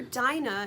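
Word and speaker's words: Dinah: But I believe her name was probably pronounced dina because the root of her name from the word dean which is what encapsulates religion, faith and a way of life.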